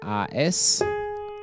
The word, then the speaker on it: As: Das ist ein A-S. Allerdings zwei Vokale A und E hintereinander. Ja, das wird As ausgesprochen in dem Fall.